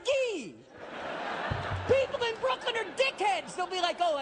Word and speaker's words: Gay: Two weeks ago, I FOUND OUT MY LAST NAME IS from the Champagne region in France.